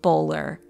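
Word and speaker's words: Boulware: the locals tell me it is apparently pronounced bowler at least with the older Generations like the Murdoch name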